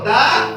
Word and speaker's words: the: তাহলে আমরা জানলাম এই যে কনসোনেন্ট দিয়ে যত শব্দ শুরু হবে তার পূর্বে যখন টি এইচ ই এই শব্দটা আমরা উচ্চারণ করব দা। কি উচ্চারণ করব? দা। আর যখন শব্দের শুরুতে ভাওয়েল থাকে তখন আমরা টি এইচ ই তখন করব উচ্চারণ করব দি। উচ্চারণ কি করব? দি।